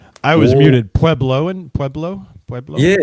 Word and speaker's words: Pueblo: Pueblo. Pueblo.